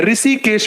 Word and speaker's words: ऋषिकेश: इसी हा को ही हम री पढ़ते हैं, ऋषिकेश पढ़।